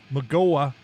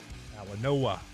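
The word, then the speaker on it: Mauigoa: And number 10, Francis Magola, Magawa, 29.6 million. Mawa Mawa Noah. Mawa Noah. So The G is pronounced like an N. Mawa Noah.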